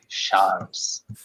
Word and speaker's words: Charles: It's a soft C. Charles.